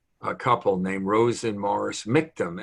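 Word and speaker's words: Michtom: couple named rosen morris miktom m-i-c-h-t-o-m russian rhymes with victim and they ran uh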